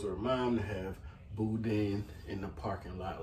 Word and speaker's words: boudin: you're Cajun of course you say things with the accent so it's going to be boo dang so that's what they